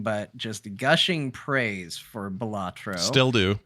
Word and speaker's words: Balatro: We also played Balatro, is what I've been told is how it's pronounced. Balatro.